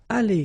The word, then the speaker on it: allées: So the good news is that phonetically it's aller here. Aller, aller, aller. So it's the same. You don't pronounce this final you don't pronounce this final S here.